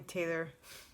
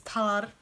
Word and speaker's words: Talar: difficulty pronouncing my name my name is talar it can be close to taylor but it's not i mean there's a y and an o missing but everything else is there uh yes okay now